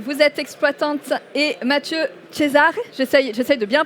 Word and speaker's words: Cesare: Laura Perrette, vous êtes exploitante, et Mathieu Cesare, j'essaye de bien prononcer. Cesare.